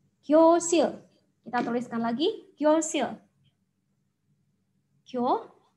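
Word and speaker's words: 교실: Nah, huruf real ini kalau berada di akhir suku kata, bacanya adalah L ya. Jadi dibaca sil, gyosil.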